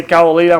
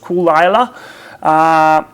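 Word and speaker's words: Caol Ila: got Kara Lila well in Australia we say cavalier most people say Carla Lila actually pronounced cool Lila cool Allah means the it's basically the name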